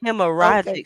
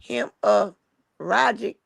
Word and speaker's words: hemorrhagic: Oh, so it was so it got you you pronounce hemorrhagic because it got the two R's. Uh-huh. Yeah, the two R's make you have to leave one because it ain't a vowel in between.